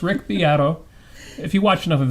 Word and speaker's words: Beato: spelled beat o it's kind of weird i pronounced it beto for the longest time but no it's rick piatto if you watch enough of his videos you